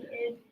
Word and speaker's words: id: Is it pronounced the id? The id. I've heard other people say that, but I heard you saying ID yesterday. So Yeah, it's the id.